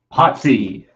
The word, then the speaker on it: POTC: No, you're saying it wrong. Potsy. And Ralph Mouth. That's how I say it. I say Potsy.